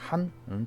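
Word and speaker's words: 寒: 한은 중국 발음으로 한 똑같습니다. 한 똑같습니다.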